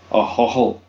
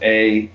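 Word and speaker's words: Ahoghill: middle of Northern Ireland called Ahoghil, and that's spelled Ahoghil, Ahog Hill.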